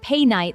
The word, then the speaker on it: Painite: Mistaken for ruby for years, the world's rarest Painite, pronounced pay-night like you're saying the name of someone you just met.